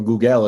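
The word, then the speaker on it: googol: As you probably know, Google, or Google as it's supposed to be pronounced, is 10 to the 100th power.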